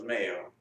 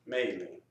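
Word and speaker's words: Mayle: my family, the black, we have a name, Maley or male. The black people consider themselves male, M-A-Y-L-E, male, and the ones who pass for white pronounce their names Maley.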